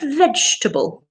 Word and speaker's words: vegetable: carrot goes in the vegetable category with you I would say the same thing and another beautiful pronunciation remember guys it's always shorter than you think vegetable vegetable vegetable okay excellent okay what